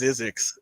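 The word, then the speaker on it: Zzyzx: Oh, I believe that's pronounced Zizix.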